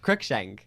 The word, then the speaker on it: Crookshank: grugshank was gay how do you say your last name crookshank crook shank yeah i've been saying it wrong you know what do